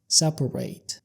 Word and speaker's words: separate: لو استخدمنا الكلمة دي كفعل بمعنى ينفصل أو يفرق بين اتنين هننطقها بطريقة تانية وهي separate.